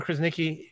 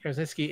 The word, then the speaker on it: Krasinski: what we're saying is is that um John krasnicki Krasinski is John Krasinski got to say his name